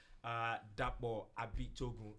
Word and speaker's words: Dapo Abitogun: show today because we've got a special guest, Dapo Abitogun. That's the right pronunciation, right?